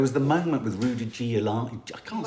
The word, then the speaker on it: Giuliani: But it's spelled G-I-U. Giuliani. Can someone write it phonetically for me? Rudy Giuliani. With Julie. Oh, it is Giuliani.